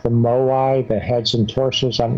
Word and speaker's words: Moai: How do you pronounce it? Moai? Moai.